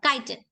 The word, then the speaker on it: chitin: made of a material we call chitin or kiten however you would like to pronounce it or kiten the